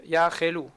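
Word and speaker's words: יכלו: Faut bien prononcer le sheva na du chaf, yachelu.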